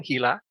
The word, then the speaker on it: Gila: And in fact, I had a question for you about Gila, I guess is the pronunciation. Gila, it's a river.